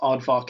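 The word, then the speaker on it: Aardvrk: Artvar. Arvar. Arvar. That's how it's spelled. A A R D V R K. Yeah, you're pretty close. It's pronounced oddvar in English at least.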